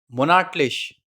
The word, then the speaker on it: monatlich: Monthly, monatlich. Monthly, that means monatlich. As I told you, the sound of lich will be like lish.